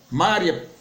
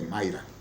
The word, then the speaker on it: Mayra: Mária Pinheiro, Mayra é o nome dela, Pinheiro, a pronúncia certa é Mayra.